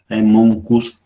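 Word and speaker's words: Haemonchus: Monchus contortus se escribe, Monchus se lee.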